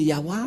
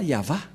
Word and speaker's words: Yahvah: va prendre en car certains aussi disent que que c'est yawa mais pas yava et c'est encore une une fausse un faux schéma car la prononciation de